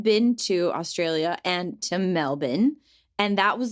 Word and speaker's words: Melbourne: i live near melbourne which of course is pronounced melbourne yep just up the road is the town